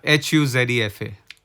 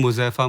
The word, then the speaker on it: Huzefa: Now spell it. Yeah, Huzefa. but that's so simple. Huzefa. Yeah. Yeah. Yeah. But it become Muzefa, Mufasa, Muzaffar.